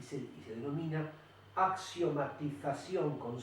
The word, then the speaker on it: axiomatización: Eso si la separamos en sílabas, axiomatización. ¿Es una palabra aguda, grave o esdrújula? Es aguda. ¿Por qué es aguda? Porque se acentúa en la última sílaba.